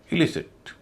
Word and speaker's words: elicit: इलिसिट, DEVELOP, CONSIDER, ABOLISH, ELICIT।